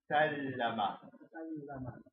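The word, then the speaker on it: سلّم: It's sallama. Because the rule for this means there's two lambs here. And they say you rest on the first letter and you pronounce the second syllable. Sal, that's the first lamb. Sal, that's the first one. Lama is the second.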